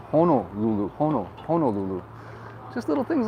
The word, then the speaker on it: Honolulu: mean seriously you know it's not hannah lulu it's honolulu just little things like